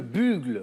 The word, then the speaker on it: bugle: C'est- Alors, je sais même pas comment on le prononce. C'est quoi? Ah oui, c'est autre chose. C'est le bugle.